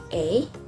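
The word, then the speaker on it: eh: example of canadian slang it pronounced a a one more time a this slang has two different words in it which is i and h indonesian people usually pronounce this as but in canadian people pronounce this as a so this sling similar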